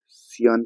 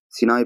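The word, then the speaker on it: Sinai: तो lakes of south Africa में हम पढ़ेंगे सबसे पहले सियान पेनिनसुला, पेनिनसुला, ठीक है, सियान, सियान, सियान पेनिनसुला से सिनान, सिनाई पेनिनसुला होता है, सॉरी, थोड़ा प्रोनाउंसिएशन में दिक्कत हो रही है।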